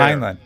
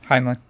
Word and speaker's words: Heinlein: Heinlein. It's the last part spelled the same as the first part. Heinlein. Heinlein. Timeline.